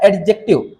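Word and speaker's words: adjective: और इसको बोला जाता है एडजेक्टिव। है ना? इसमें डी साइलेंट है। इसको हम पढ़ेंगे एडजेक्टिव बोलेंगे। अब ये एडजेक्टिव क्या हुआ?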